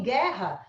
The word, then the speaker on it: guerra: Linguiça é diferente de guerra, porque a letra U é pronunciada. Então, você tem que colocar na fonética. Em guerra, você não coloca o U na fonética, você coloca só o G.